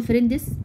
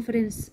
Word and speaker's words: friends: طبعا هنا حرف الدي مش بننطقه، لا نقول فريندس، نقول فرنس. دي سايلنت مش بننطقها. تمام.